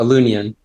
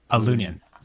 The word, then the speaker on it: Aloonion: it is how do you say it oh a loonian a lunion right on awesome and this is this is